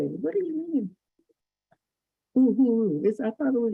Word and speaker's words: Uhuru: Uhuru. I thought it was Uhuru. No, it's ooh. All the U's are pronounced like ooh.